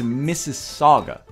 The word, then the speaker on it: Mississauga: lot of missus wag it looks like Mississippi but swagga at the ends it's Mississauga yes oh okay well